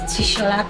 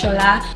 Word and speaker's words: Tsola: So my name is not pronounced Tishola, please. It's pronounced Shola. You know where I'm from? TS is sh. That is the T is silent.